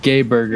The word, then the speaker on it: Geiberger: Oh, Al putting Geiberger, plane. Mr. 59. I think it's pronounced Gay Burger.